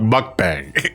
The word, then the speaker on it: mukbang: Oh, and mukbang is spelled M-U-K-B-A-N-G.